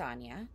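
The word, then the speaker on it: Áine: title of the video her name is actually spelled a-i-n-e but it is pronounced anya i just want to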